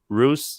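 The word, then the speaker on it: Reuss: He really is in charge of the whole EV operation at GM under Mark Roos. Well, how do you pronounce his last name? Royce, yeah. Royce, the president of GM, and also president of GM North America, Mr.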